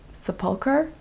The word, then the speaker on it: Sepulchre: I've got the church of Sepulchre, I think is how you pronounce it.